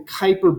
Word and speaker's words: Kuiper: the name Piper is if we were to use the Dutch pronunciation which was his heritage it would be deployed for God so if the Kuiper belt the Kuiper belt is a bunch